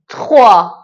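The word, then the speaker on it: trois: سه تخوا تخوا خب نکته‌ای که داره اینجا تخوا نمیگیم اتخوا اتخوا اتخوا نمیگیم اگه اتخوا بگیم به نظر من درست از اینه که تخوها بگیم ببینید اینجا ت رو فقط خیلی سریع از روش رد میشه فقط انگار که یه تاچش تاچش تاچش میکنیم تخوا چند بار تکرار کنید دستتون میاد که چطوری این کلمه رو تلفظ کنید تخوا عدد ۴ کتخ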